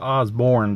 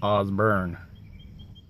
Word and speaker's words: Osborne: by the osborne brothers not the osborne brothers osbourne that's how you say it yeah i just